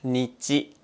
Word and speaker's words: 日: まずは日。